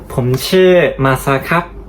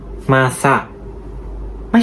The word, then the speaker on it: Masa: not like that Hello everyone My name is Masa MASA I'm not MASA-i (come late) （555） MASA Do you understand?